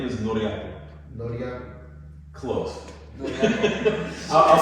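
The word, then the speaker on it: Ngoriakl: The KL together is also one of the most difficult. Yes. Yeah, it's like ankle, but just like shorter.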